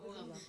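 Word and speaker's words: औहाम: इज the meaning of ओहम। Please ये मत बताइए कि गूगल कर दो। अच्छा नहीं मैं बताती हूँ। सबसे पहले इट is pronounced as ओहम।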